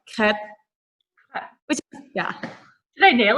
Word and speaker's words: crêpe: Oh, so correctly, it's crepe. So the R is like the worst part for the Americans, just because it's so different how we pronounce it. But yeah, you kind of have to roll your R, and so that just like crepe.